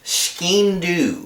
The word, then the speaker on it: Skean: Next one, the Fgx Skean is how I think this is pronounced.